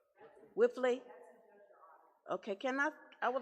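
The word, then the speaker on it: Wipfli: is check number 113343 how do you pronounce That W I P F L I for audit for financial audits. Whiffley.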